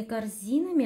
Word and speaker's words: корзинами: следующее предложение с полными корзинами отправляемся домой с полными корзинами отправляемся домой проверяем с полными корзинами отправляемся домой с это предлог предлоги со словами пишутся раздельно с полными корзинами ударение падает на второй слог безударные гласные в корне